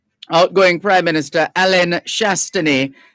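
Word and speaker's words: Chastanet: you perhaps would say chastony but the the whether you're speaking english or french the t at the end is silent outgoing prime minister alain shastani said the outcome of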